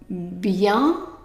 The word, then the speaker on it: bienvenue: Now the NU is pronounced nu, nu. Okay, now let's do it from the beginning here. So, bienvenue, bienvenue. Try it.